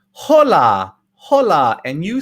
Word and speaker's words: hola: why i didn't say hola hola and you said what the the ace or the h is silent in spanish it's a silent letter so we never pronounce it okay everybody pronto hasta